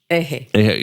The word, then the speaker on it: EJE: And am I pronounced is it called Ehe? How do you pronounce it? Ehe Okay.